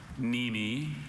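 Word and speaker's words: mneme: Very tricky. Silent N.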